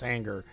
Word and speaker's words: hangar: It's hangar that you're saying that should be pronounced as hanger, which it is.